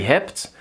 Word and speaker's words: heb: Ik heb, jij hebt. And remember, the B is not heb. It's pronounced like a P.